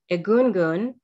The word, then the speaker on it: Egungun: 2021 screenwriting and directing alumna whose short film egungun did i pronounce that correctly yeah that's right which means